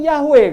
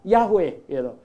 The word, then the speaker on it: Yahweh: jhv ha itu itu dia mengusulkan cara bacanya adalah yahud piro nah Padahal di Alkitab Perjanjian Lama masoretic text itu kitab yang tertua yang ada huruf hidupnya bacanya Yang bener tuh Jehova lalu ngewar ini dia mengusulkan dibilang itu salah di Coba bayangkan nya dia bilang itu salah yang bener tuh Yahweh katanya Ah lalu mereka orang tanya